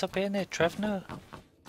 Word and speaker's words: Trevno: Yeah, it's up here near Trevno. Trevina. There's no I in it. No, there's a V, so you want to say pronounce it with V.